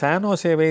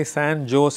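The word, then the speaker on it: San Jose: என்று ஒரு நிறுவனம் இருக்கிறது பலபேர் அந்த சானோசேவை சான் ஜோஸ் என்று படிப்பார்கள் எஸ் ஏ என் ஜே ஓ எஸ் இதான் உண்மையான அதனுடைய ஸ்பெல்லிங் என்று சொல்லுகிற அந்த உச்சரிப்பு ஆனால் அதை சான்ஜோஸ் என்று படித்தால் அவர்கள் அமெரிக்காவை முழுமையாக சரியாக தெரிந்து கொள்ளாதவர்கள் என்று கூட சொல்லிவிடலாம் ஆனால் அதை சரியாக சானோசே என்று சொல்லுகிறவர்கள் தான் அமெரிக்காவை அல்லது அந்த கலிபோர்னியா மாநிலத்தில் இருக்கிற அந்த பெயரை மிகச் சரியாக உச்சரிக்கிறவர்கள் என்று நாம் பாராட்டலாம் அதன்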